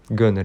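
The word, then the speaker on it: Gunnar: E aí, eles têm um filho que é o Gunner é a pronúncia.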